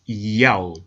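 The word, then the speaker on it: ΙΑΩ: In order to help the reader pronounce God's name correctly, they transliterated the Most High's name with the Greek characters iota, alpha, omega, written in Greek, pronounced Yao.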